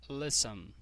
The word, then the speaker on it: listen: Qual que é a sílaba tônica mais forte? É a última? Não, não é. Se fosse, a gente ia repetir esse N aqui, né? Porque termina com consoante, vogal e consoante. Mas não, a sílaba tônica forte é a primeira.